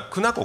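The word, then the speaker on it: 狗奴国: まあ、クヌ国ってありますけども、あの一般にはクナ国って読むよね、クナ国。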